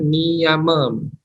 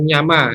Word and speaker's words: niyama: Nah, lanjut ke niyama, ya, cara bacanya niyama, bukan nyama, ya.